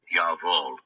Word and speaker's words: Jawohl: And if you guys are wanting to know how it's pronounced, oh, come on, do it. Jawohl.